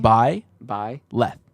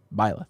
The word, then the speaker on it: Byleth: How'd you pronounce that name? Byleth. Leth. Byleth.